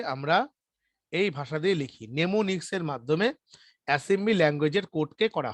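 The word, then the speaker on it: mnemonics: আর assembly ল্যাঙ্গুয়েজগুলোকে লেখা হয় হচ্ছে নেমোনিক্সে, নেমোনিক্স, নেমোনিক্স, বইয়ের মধ্যে বানানটা দেখে নেবে, নেমোনিক্স স্পেলিংটা বলছি আমি।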